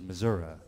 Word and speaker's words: Missouri: me a chance to say the name of my home state, which is Missouri. And nobody else says it right, so I get to say it right in this song.